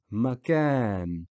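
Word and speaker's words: مكان: Again, mim has a fatha, so it's just a short vowel, short sound ma. Then the stretching or the extending is after the kaf, because that's where the aleph is. Ka. Makan.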